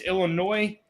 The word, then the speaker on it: Illinois: So it's Illinois. S is silent.